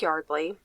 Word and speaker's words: Yeardley: loyal to his sport of Lacrosse just like Yardley and I say it like that because division